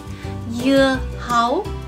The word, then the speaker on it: dưa hấu: As you can see, in Vietnamese, dưa hấu is spelled with a D, but the sound that it makes is ya, ya, ya. Mm-hmm. In Vietnamese, when there is a D like this, it is actually pronounced ya.